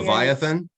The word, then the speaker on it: Leviathan: And how do you pronounce that word? Levin? Leviathan.